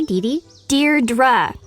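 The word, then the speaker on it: Deirdre: it or something hi Dee Dear dra I know it's got that tricky second syllable but I figured it out by age two don't give up you'll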